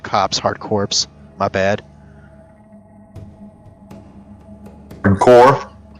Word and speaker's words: Corps: That's core, dude. That it's pronounced core.